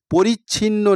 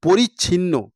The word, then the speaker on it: পরিচ্ছিন্ন: কথা শুনতে পাচ্ছে না পরিচ্ছিন্ন নাহি সন্ধ্যা দিবস রজনী এখানে কথাটা তোমাদের উচ্চারণ দেখো পরিচ্ছিন্ন অনেকে এটা পরিচ্ছন্ন পড়ে ফেলবে পরিচ্ছন্ন মানে হচ্ছে পরিষ্কার আর এখানে পরিচ্ছিন্ন লেখা লেখা আছে পরিচ্ছিন্ন কথার অর্থ হলো আলাদা